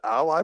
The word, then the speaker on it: Ally: They pronounce it Ally, but it's spelled like Alley, right? A-L-L-Y.